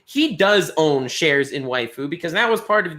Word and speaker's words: Waifu: There's another VTuber by the name of Waifu, YFU. It's pronounced Waifu.